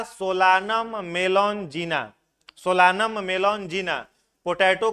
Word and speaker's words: Solanum: उसके बाद है टमाटर का सोलानम, स्पेलिंग सोलानम होगा, सोलानम, SOLANUM, SOLANUM, सोलानम, ठीक है।